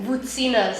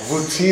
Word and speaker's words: Voutsinas: Voutsinas. Voutsinas.